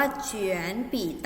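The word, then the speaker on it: 卷笔刀: เฉือน ปิด เต้า 5 คำ นี้ ออก เสียง ว่า เฉือน ปีด เอา นะ คะ จะ แปล ว่า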